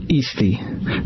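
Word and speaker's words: ἴσθι: must simply be memorized isti notice the accent on the first syllable it is not an enclitic i think exercise two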